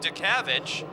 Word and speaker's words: Dutkiewicz: first name is Andrew last name is spelled Dutkiewicz but I'm told that they call him to kavik so we'll get a